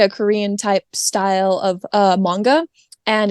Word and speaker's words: manga: So first of all, it's pronounced manga and not manga.